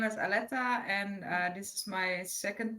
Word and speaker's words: Aletta: Hi, my name is Aletta, and this is my second podcast interview.